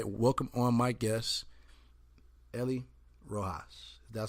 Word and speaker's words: Ellie Rojas: So let me go ahead and welcome on my guest, Ellie Rojas.